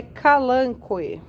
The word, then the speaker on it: Kalanchoe: chamar mesmo né mas dizem aí que a pronúncia correta é calango Olha só como eles